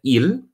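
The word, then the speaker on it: ils: Now, you may have noticed the pronunciation of il and il is exactly the same.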